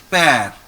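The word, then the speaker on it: père: So we pronounce it like pear. Pear. E is A, so it becomes pear.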